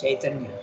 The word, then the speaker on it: Chaitanya: You have to put C-A-I-T. Okay, it's not K, but it is Cha. This is the diacritical. You, in all Sanskrit books, they will tell you how to transliterate into English. It has to pronounce Chaitanya.